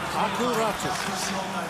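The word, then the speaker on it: Aku Räty: Old habits die hard after Ratu was asked his name to be pronounced the Finnish way, where the Y is more of a new sound, so it's Aku Ratu.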